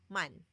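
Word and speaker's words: 만: And then the mu sound plus a equals ma, and then we will be putting the ending consonant. So that's gonna be man, man.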